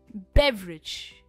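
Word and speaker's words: beverage: हमारा next word है बे व रिच। बेवरेज। बे पर इसका स्ट्रेस है।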